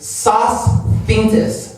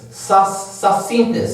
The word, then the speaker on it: Sosthenes: His name is Sosthenes. Sosthenes. That's how it's pronounced.